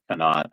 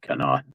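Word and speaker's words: Conemaugh: Yeah, Kennot, I think, is how you would pronounce that. Canot.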